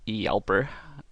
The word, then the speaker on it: Hjälper: and used hey guys' yelper which is the correct sweetest pronunciation but for the remainder of this video I think I'm just going to refer it as Helper because I like to